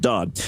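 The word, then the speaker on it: Dade: I don't know, D-A-D-E. I pronounce that Dodd.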